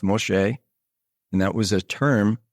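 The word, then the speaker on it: משה: And that name, M-S-E, or Moshe, which that is Moses, is spelled Mem, Shin, which is M, Shin, S, or S-H, if you will. And then He, which is E. It's pronounced Moshe.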